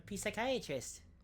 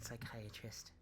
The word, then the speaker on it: psychiatrist: Oh, A P psychiatrist. That's what I call a psychiatrist. okay. Okay. The P is silent in psychiatrist.